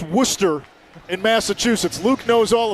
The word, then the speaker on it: Worcester: small school in a town that looks like Worchester but is pronounced Worcester in Massachusetts Luke knows all about that having